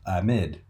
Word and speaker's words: amide: Moving on, here is the structure of what we call an amide, or sometimes pronounced amide.